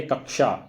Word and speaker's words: कक्षा: तो इसका जो शुद्ध उच्चारण क्या है, कक्षा, यानी ये जो है सही रूप इसका माना जाएगा।